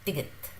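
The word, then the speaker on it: 디귿: So it's somewhere between D and T.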